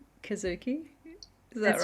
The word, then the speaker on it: Kizuki: grief journey, and it's called Kizuki. Is that That's right? right. That's right. Have I pronounced it right?